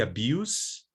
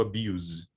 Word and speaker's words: abuse: or adjective it's voiceless and when it's the verb it's voiced so it's the case of the abuse versus to abuse the use versus to